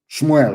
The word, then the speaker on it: Shmuel: Shmuel, of course, correct pronunciation.